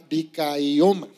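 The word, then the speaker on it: δικαίωμα: La palabra justicia significa dikaioma, ¿sí? Dikaioma, con acento en la I, dikaioma.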